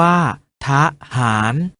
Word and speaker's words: ทหาร: อะ กึ่ง เสียง เช่น ทหาร ออก เสียง ว่า ทหาร ถนน ออก เสียง ว่า